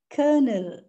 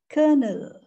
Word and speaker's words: colonel: determine and determination right yes colonel um it's colonel colonel he is holding a post of colonel colonel